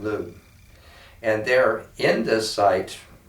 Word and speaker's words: Lugh: I pronounce it Lugh.